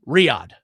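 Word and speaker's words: Riyadh: How do you pronounce the uh the the city that it's in? Riad. Riad.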